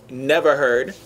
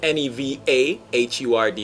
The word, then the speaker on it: NevaHurd: So, you know, NevaHurd. It's spelled differently. It's N-E-V-A-H-U-R-D.